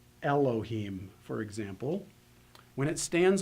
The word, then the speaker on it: Elohim: hear very well well Olive since it is silent anyway has has a tendency sometimes to completely lose its consonantal value and to not be heard at all so if you take